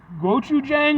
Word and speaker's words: gochujang: barbecue I don't know how to pronounce that gochujang I'm better I'm better at the Japanese pronunciations I am Korean but and it is gochujang which I don't know what that is House